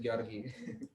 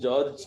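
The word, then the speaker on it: György: The English, the Anglo-Saxon pronunciation is George. Okay. But So- for our convenience, we could go with George. Okay, Yeah. George, but Yeah. it's GYO. Yeah. GYORGY is how it's Georgi.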